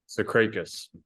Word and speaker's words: Tsikrikas: So it's like a silent T. It's not really, but don't worry about it. So if the T isn't silent, what's it properly? Like you've got to pronounce it a little bit.